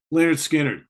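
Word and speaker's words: Lynyrd Skynyrd: gonna go with the first five records from leonard skinner pronounced second helping nothing fancy give me back my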